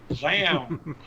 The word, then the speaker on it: ZAM: Zeman? However you want to pronounce it. It's silent like damn. Zam.